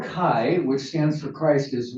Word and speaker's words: chi: of section of poetry uh Akai the letter Kai which stands for Christ is looks like a modern day x for us it looks like an X but it's it's a Greek letter Kai this uh is in the chiastic formation which